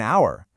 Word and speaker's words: hour: But then we say an hour, the h is silent.